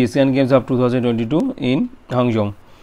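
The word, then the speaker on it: Hangzhou: Games of 2022 ইন হাংজৌ। এটা হাংশাও উচ্চারণটা একটু অন্যরকম হবে।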